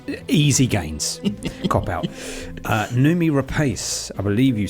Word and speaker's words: Noomi Rapace: Noomi Rapace, I believe you say that.